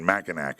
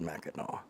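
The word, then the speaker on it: Mackinac: It's pronounced Meno. Meno. Yeah. Where's the W, bro? It's It's how There's a C at the end. It's how it's pronounced. It's M.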